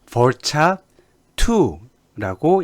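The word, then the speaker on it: VARCHAR2: 보통 차라고, 캐릭터에서 차라고 읽게 되고요. 얘는 벌차2라고 읽게 됩니다.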